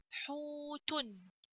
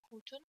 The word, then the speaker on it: حوت: Dom comes off before it on the ha, so I have to pronounce ha longer with the sound of waw.